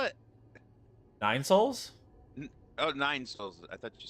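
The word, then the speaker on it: Nine Sols: Oh, Nine Souls. I thought you said Mobo for some No, reason. it's Nine space SOLS. Like soul is in the sun.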